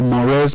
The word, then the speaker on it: mores: We have the mores, pronounced mores, or the folkways.